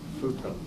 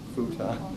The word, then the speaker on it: futon: How did you used to say this word? Futon. Now you say Futon.